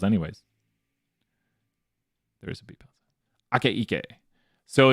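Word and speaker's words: Akaike: Ake Ike. I remember Dr. Bosdogan told me how to say it, or Bosdogan, so I got to practice everyone's names. Ake Ike.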